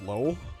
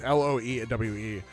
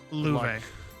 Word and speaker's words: Loewe: And that's Low. I don't know how to pronounce his name. It's Loewe. So like Louve. Louve.